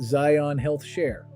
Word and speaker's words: Zion HealthShare: It is pronounced Zion HealthShare. Zi rhymes with I, on like the word on, and then health share exactly as it sounds. Zion HealthShare has no religious requirement to join.